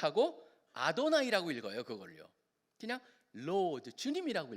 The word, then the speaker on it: 아도나이: 이스라엘 사람들은 그거를 그 이름을 얘기를 못 하고 아도나이 아고 읽어요 그걸요 그냥로드 주님이라고 읽어요 그러다 보니까 그 히브리어가 헬라어로 번역이 될